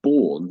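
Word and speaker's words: bourne: So a a born and it's spelled sounds exactly the same is a small river that can dry up in the summertime.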